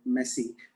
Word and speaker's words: Messi: He's posted, if I were a footballer, I'd never be Messi. I think I said the name wrong, Messi. Okay. Not like the adjective, but I'm going to share that video in a minute.